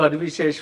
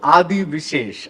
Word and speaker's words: Adivi Sesh: So, because Rahul Ravindran told me that he calls you Adi Vishesh, and that name has stuck in my head, and I'm trying to not say Adi Vishesh.